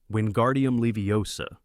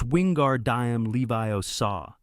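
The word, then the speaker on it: Wingardium Leviosa: Wuardium Leviosa, he shouted, waving his long arms like a windmill. You're saying it wrong? Harry heard Hermione snap. It's wingard diam Leviio saw. Make the gar nice and long.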